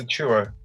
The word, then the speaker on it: Achiuwa: Like you're sneezing. Dude, it's Achiuwa.